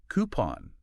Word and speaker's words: coupon: Yeah, but it's actually coupon. Coupon. Wow. Okay. Coupon. Remember those French roots?